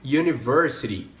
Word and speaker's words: university: então com suas que o universo ele tem um som de y e é por isso